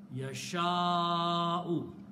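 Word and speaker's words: يشاء: If in the writing you see alif, waw, or ya, and after that you see a hamza, then it has a backward effect. In the tajweed, you have to pronounce these three letters with mad. Okay, so this will be pronounced as mad. This will be pronounced as mad. Yasha'u. You have to stretch it.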